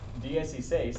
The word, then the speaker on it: dieciséis: But if you said, dieciséis, it's like saying diez y seis. same as like 31. Like it would be pronounced about the same, but it's, you know, fast.